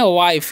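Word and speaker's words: wife: हम लोग पढ़ते हैं वाइफ क्या पढ़ते हैं जी वाइफ वाइफ का मतलब क्या होता है पत्नी यहां पर आई का उच्चारण आई होता है और लास्ट वाला ई का उच्चारण नहीं होता है क्यों नहीं होता है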